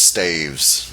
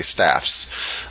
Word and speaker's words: staves: and by the way if there's more than one staff it's pronounced staves don't say staffs and this staves is